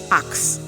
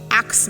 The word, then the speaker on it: ask: ask a-s-k a lot of people call it ax ask me a question no axe is a x-e the word a-s-k is correctly pronounced ask ask and a word like thank